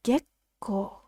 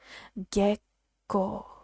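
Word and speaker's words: 月光: this word is pronounced gekko gekko this small two or the double letters when we transcribe it into romati is a tiny small pause before the second syllable so gekko moonlight you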